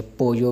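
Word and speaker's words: pollo: है, जैसे आप चाहें वैसे पढ़ सकते हैं, यानी कि पोजो भी पढ़ सकते हैं, पोजो भी पढ़ सकते हैं। ये फिर कंट्री के लिहाज से आप जहाँ रहते होंगे वहीं के यानी कि प्रोनाउंसिएशन के मुताबिक आप इसको प्रोनाउंस करेंगे।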